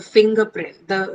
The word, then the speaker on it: fingerprint: So fingerprint. Although in writing, in spelling, you have er, but the actual pronunciation of that is a. So this sound is what comes there.